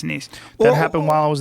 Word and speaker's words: Nice: Is that how you say it? Nice. Yes, Nice.